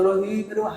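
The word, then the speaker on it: رحيم: হ্যাঁ, হাটা যেন উচ্চারণ হয়, বড় হয় উচ্চারণ, গলায় শেষ হতো রহিম, হালকা যেন না হয়।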